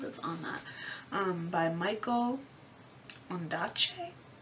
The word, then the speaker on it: Ondaatje: By Michael Ondaatje. I think that's how you pronounce his name, Ondaatje.